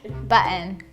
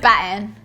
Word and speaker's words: batten: Am I saying it right? Because apparently I say kitten, weird. Kitten, button. Somebody told me it's the way the millennials say it. Like we're so lazy, yeah. Button, batten. This helps like push your weaving downwards.